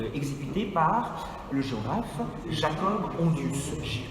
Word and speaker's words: Hondius: Ce sont des globes qui datent de 1600 et qui ont été exécutés par le géographe Jacob Hondius. H-O-N-D-I-U-S. Il n'y a pas de piège comme ça se prononce.